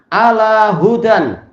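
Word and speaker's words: على هدى: Wa alal alif, yaitu wakafnya di atas alif, nahwu ala hudan. Berarti cara baca gimana? Ala huda. Semula ala hudan ada tanwin, tapi kalau berhenti di situ ala huda.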